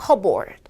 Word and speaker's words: cupboard: 발음은 컵볼드 아니고 피탈락 cupboard.